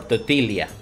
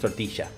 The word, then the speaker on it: tortilla: to say that uh in some parts of Latin America uh the dou L is Leah instead of sha so for instance rain Shia can also be say luia for some people for some parts or toia instead of tortia it's not super common